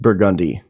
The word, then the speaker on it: Burgundy: then r no the the thing about New Orleans is French words are pronounced with redneck accents the way a redneck